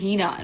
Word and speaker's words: Hina: Please, Nika, say my name. My name is not Nika. First of all, you say my name properly. You call out my name properly. My name is Hina, not Nika.